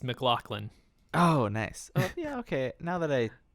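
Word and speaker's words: MacLachlan: face i just watched i just watched a youtube video on how to pronounce his name and it's mclaughlin oh nice oh yeah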